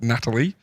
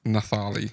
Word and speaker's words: Natalie: very specific in saying it's not Natalie, it's Nathali or Natalie. Okay. I've seen someone with it spelled like that and they had it Natali, they said it like Natali.